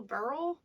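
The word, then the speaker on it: beryl: to say that emerald sardonics carnelian chrysolite b-e-r-y-l burl topaz christopher praise jason which is actually how your friend's name is spelled jason jason and mother am amethyst um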